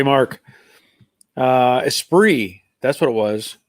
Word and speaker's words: Esprit: that's what it was esprit esp rit esprit yep garnish they said it was a formula with a regular hood esprit yep and there was a t in there but it's a silent t i knew the t